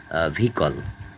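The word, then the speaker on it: vehicle: silent H কিছু শব্দে অনুচ্চারিত যেমন ভিকল এইচ এর উচ্চারণ নাই যানবাহন যেমন এক্সজাস্ট ক্লান্ত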